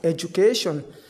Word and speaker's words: education: D will be written but J sound will be pronounced. For instance education we do not say edu. We do not say edu do not pronounce d clearly we say edu we pronounce j sound education.